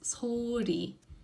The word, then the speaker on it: 소리: Now, if the liam is following after a letter, like this, 소리, 소리, then the tongue actually starts a bit further back. So it starts from further back and it sort of flickers like this.